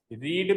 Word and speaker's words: read: कैसे प्रोनाउंस करते हो, रीड भी होता है, रेड भी होता है, रेड भी होता है, स्पेलिंग सेम होती है, ठीक है। अगर फर्स्ट फॉर्म में आ रहा है तो रीड और सेकंड या थर्ड